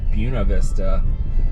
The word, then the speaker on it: Buena Vista: I'm uh leaving my little Camp bunk house in Buena Vista or apparently it's Buena Vista they don't pronounce Spanish words correctly here but I'm looking at